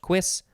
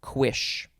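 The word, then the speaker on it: cuisse: saw the word quiz so i officially now know it is pronounced quiz or quish uh yeah covers the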